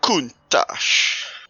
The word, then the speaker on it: Countach: Yep, I've absolutely gone and baptized that pronunciation as well. What should it be like? Lamborghini Countach.